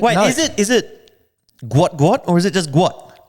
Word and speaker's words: Gout: But Oh, gout. Gout. It's Gu. Gu. There you go. So, let's just see moving forward if if uh people take Wait, is it is it Gu or is it just